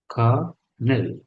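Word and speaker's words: colonel: কথা বলেন বিলো এইযে কর্নেল আমরা বলি এটা কর্নেল এটা হচ্ছে কর্নেল খনেল কর্নেল উচ্চারণটা কর্নেল সবাই বলে আমি দেখলাম যেটা আসলে কি কর্নেল পরে দেখলাম যেটা উচ্চারণটা একটু ভিন্ন খনেল আচ্ছা বিসাইড মানেও ভাইয়ের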